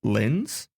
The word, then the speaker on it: LLENs: of the education department called LENS, which is spelt LLENS, which stands for Local Learning and Employment Networks.